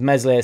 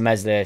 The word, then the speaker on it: Meslier: obviously everybody gets on mesle silent s's uh back and that's